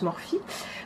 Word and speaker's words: Morphe: Morphe, ça s'écrit Morphe, mais enfin je sais que ça se prononce Morphe.